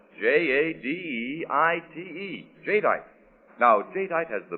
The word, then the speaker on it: Jadeite: And that's spelled J A D E I T E.